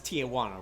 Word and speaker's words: Tijuana: That's Tijuana, right? It's like a Spanish pronounced J.